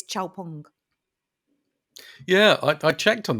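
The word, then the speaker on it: Xpeng: pronunciation issues Lou standing it's not X Pang it's ch pong yeah I I checked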